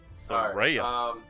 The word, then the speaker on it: Soraya: No, yeah, you have to get the neck roll in there, or it's not the correct pronunciation. Soraya.